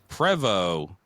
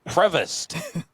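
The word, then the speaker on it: Prevost: And then the second thing is you mentioned Prevo for the buses or whatever, right?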